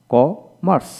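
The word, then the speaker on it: commerce: তারপর ক মাস, ক মার্স, সি ইউ ক এম ই আর সি, কমার্স। এখানে আমরা রেপ, রেপ উচ্চারণ করলে আমেরিকান হবে, যদি রেপ না দেওয়া হয় তাহলে ব্রিটিশ উচ্চারণ, কমার্স। হ্যাঁ, তারপর এখানে ই মোরাল,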